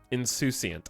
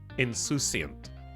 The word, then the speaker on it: insouciant: Insouciant. In French, it's insouciant. Insouciant. That word is French as hell. In America's like insouciant. Insouciant.